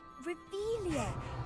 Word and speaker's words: Revelio: revelio where are you rebellious saying it wrong oh rebelia much better oh shut up wait